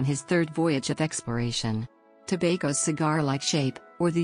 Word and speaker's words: Tobago: is /tp of slash rhyming with lumbago sago and Mako history pre-colonial era both trinidad and tobago were originally settled by